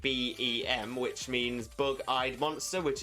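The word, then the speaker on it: Beheeyem: So it sounds like you're saying BEM, which means bug-eyed monster, which is another common descriptor for alien designs. Roger the BEM.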